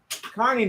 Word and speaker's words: Kearney: Kearney, Nebraska, which is how they pronounce it, but not how they spell it.